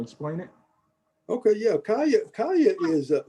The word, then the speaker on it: Caya: mentioned earlier in the introduction about the the kaya c-a-y-a golf app am i pronouncing that right kalia yeah yeah so could